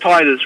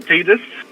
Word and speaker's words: Titus: make sure with you it is pronounced Titus right it's not tetus it's not ttus no this is TI